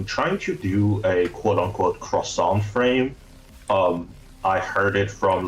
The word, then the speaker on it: croissant: So the English people really battle with the R sound. It comes from the back of the throat. So it's called a croissant. The R is very harsh.